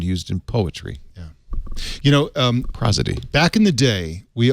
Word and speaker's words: prosody: I saying that right could be pros ad cuz its pros you went to Harvard what do you think he says I'm saying it right that's what Harvard prosody prosody prosody because it's pros rights from pros is the root word prosody is the pattern